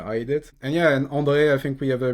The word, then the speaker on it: Andre: And today I'm lucky to be with André, or actually I'm saying it in French here. Do you say it like also André like this or Actually, I don't. I just say it Andre.